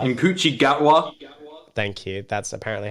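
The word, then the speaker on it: Ncuti Gatwa: fact he's not in this fell is in coochi gatwa inochi gatwa thank you that's apparently how you pronounce it and he is the new star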